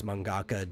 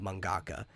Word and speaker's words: mangaka: an artist both are equally called mangaka uh ka in in that sense or ga it's the same syllable it's just a heavy sound basically it's like a